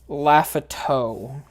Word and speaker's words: Lafiditude: For those that are confused, it is pronounced Laughato. Like chateau.